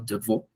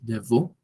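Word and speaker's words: Devereux: de un científico llamado Deveau, que es de pues, de origen francés, que se escribe de Veraux, ¿sí? Deveau.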